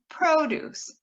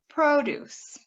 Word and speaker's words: produce: Same thing with produce, produce, and produce, produce. One is our salad and vegetables, and another one is the act of producing something.